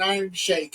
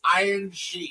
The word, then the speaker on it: Iron Sheik: It's not fucking Iron Shake. It's Iron Sheik. It is Sheik. It is not Shake.